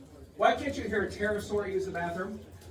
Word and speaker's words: pterosaur: Now, before we get to this, real quick, why can't you hear a pterosaur use the bathroom? Because the P is silent.